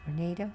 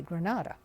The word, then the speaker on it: Granada: name of the town i understand now that's pronounced grenada but we always pronounce the granada being from california the following morning was the